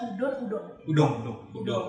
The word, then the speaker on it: udon: Bacanya udon.